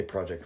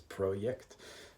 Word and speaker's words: Projekt: Pretend you're supposed to say Project Red, but the way they actually say it in Poland is Projekt, because that's how you'd pronounce it.